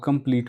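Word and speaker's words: complete: अब कंप्लीट में आप ई देख रहे हैं, कंप्लीट टॉ पे बात खत्म होगा, ई तो पढ़े नहीं तो साइलेंट ई है ये।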